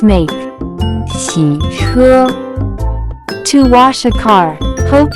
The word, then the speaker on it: 洗车: Next vocabulary that we have is to wash a car, which in Chinese can be pronounced as 洗车, 洗车, 洗车.